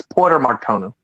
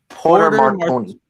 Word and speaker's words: Porter Martone: I got his name wrong. It's Porter Martone. Porter Martone.